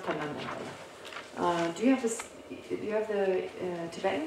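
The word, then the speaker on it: དོན་དམ་བདེན་པ: In Tibetan, it's Tundam Demba, pronounced Tundam Demba.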